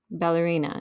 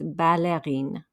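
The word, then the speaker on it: ballerines: desho some ballerina flats now here you'll hear the l it's not going to make a y sound because it's actually from italian ballerina it's an italian word so the french will keep that l sound it's not ballerina it's balerine and then just some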